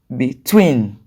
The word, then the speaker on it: between: then for rule two two syllabic verbs and prepositions are usually stressed on the second syllable when you say two